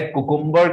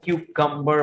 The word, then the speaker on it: cucumber: बजाय कुकुम्बर के आपको इसको क्यूकम्बर बोलना है, क्यूकम्बर।